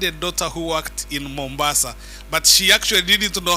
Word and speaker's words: Mombasa: a neighbor had a daughter who worked in Mombasa but she actually didn't know how to pronounce it as Mombasa she called it mambasa so she used to tell us a lot